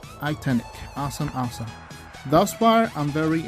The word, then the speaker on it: iTeknic: I believe it's pronounced iTeknic. So let's see, I have it right? Yeah. All right, iTeknic.